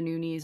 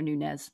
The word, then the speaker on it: Nunes: Amanda Nunes is like one of my favorite, and I will not call her Nunes. That's not how you pronounce her name.